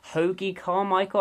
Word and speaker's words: Hoagy Carmichael: of the infamous recovered and recover track by Hoagy Carmichael think that's how you pronounce it and his classic Stardust now this